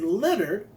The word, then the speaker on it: Leonard: My mom named me Leonard, not Leonard, by the way. I used to fight and get into arguments when I was little about that pronunciation.